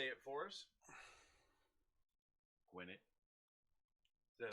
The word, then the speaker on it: Gwinnett: Gwinnett. Is that how it's Gwinnett pronounced?